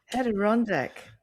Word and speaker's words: Adirondack: And beautifully pronounced, by the way, Adirondack chair. So Adirondack.